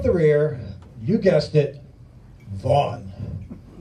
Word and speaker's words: Vaughn: Bringing up the rear, you guessed it, Vaughn. 6 letters, 2 silent, a dreadful 67%, 1 whole syllable, you can't do worse.